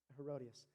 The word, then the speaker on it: Herodias: gonna try to say her name right um herodias um or Herod is herodias I think I believe that's herodias thank you um herodias is the former wife